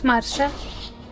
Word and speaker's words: Marcia: Also, it's really funny, does Kenneth have the full guard, or is that Marcia that has it? It's Marsha. I don't care, I'll pronounce her name whatever I want.